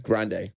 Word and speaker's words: Grande: Grande.